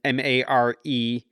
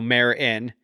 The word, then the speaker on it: Meryn: So that's why it's Mer as an MARE-IN. So Meryn, then Cadell, KA-DALL.